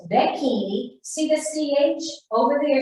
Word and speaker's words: becchini: Undertakers are becchini, and it sounds like bikini, but it's becchini.